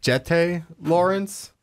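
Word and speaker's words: Jeté Laurence: I'm going to go with, it's pronounced Jette Lawrence.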